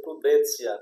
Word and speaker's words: prudentia: pronuncia-se iuris, e prudentia, P-R-U-D-E-N-T-I-A, mas pronuncia prudentia, como fosse um T-C, prudentia.